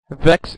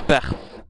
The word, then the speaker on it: Vex: Huns the dark hallway Vex is also how you pronounce Vex by the way not veex not veex not F not vix or VI or crazy YouTube people